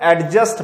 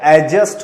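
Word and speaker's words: adjust: अब मैं रिकंसिल लिखा हुआ है, अम्यूज लिखा है, अडॉप्ट, एडजस्ट, इसको कुछ लोग एडजस्ट पढ़ते हैं बट ये एडजस्ट होता है, डी साइलेंट होता है।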